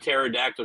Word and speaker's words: pterodactyl: do you never hear pterodactyl go to the bathroom hold on I know this one I know this one I don't know this one cuz the p is silent that's what it was